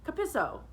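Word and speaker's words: Capisco: "Capisci," I added, and I added, "Capisso," with an emphasis on the second syllable.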